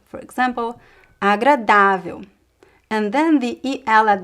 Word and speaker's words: agradável: But if we do have a graphic accent somewhere else in the word, then the stress shifts to that syllable. For example, agradável.